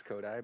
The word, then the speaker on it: Coduy: My name is Falling yeah, it's pronounced Kodak? Coduy. Kodak? Yeah, Coduy. Kodak? Coduy. Like, Yeah. you know, Kodak? Like, Kodak. Coduy, Ko- like die, like somebody's dead.